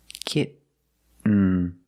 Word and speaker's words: kitten: Kitten. Kitten. But don't say kitten. I cannot pronounce these T's as a fast D. I cannot say kitten. It's kitten, or more commonly, kitten.